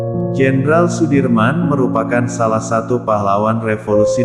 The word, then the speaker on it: Sudirman: Jenderal Besar Sudirman menurut ejaan Suwandi dibaca Sudirman.